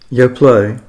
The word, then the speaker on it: Yoplait: you pronounce y play is it y play that's y play y play yep what is it mean